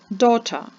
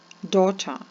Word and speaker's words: daughter: T в слові Listen daughter daughter sandwich sandwich his daughter is eating a sandwich в слові daughter не вимовляється літери G в слові sandwich не